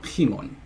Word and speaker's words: Himon: It is cool, but of course, if we're doing this rapidly, it's stressed in the initial syllable. So Himon.